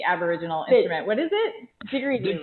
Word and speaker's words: didgeridoo: I don't even think I can pronounce the Aboriginal instrument. What is it? Didgeridoo, right?